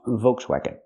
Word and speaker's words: Volkswagen: not vagon but wagon make the sound low and open w w wagon like what and where w w wagon again Volkswagon the word is pronounced Volkswagen now let's talk about